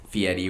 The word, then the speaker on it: Fieri: Fieri, whatever the hell. That's actually how you pronounce his last name.